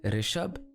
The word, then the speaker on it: Rishabh: Like, ri is rish, but then gi is gyan. So it's Rishabh and Gyanendra.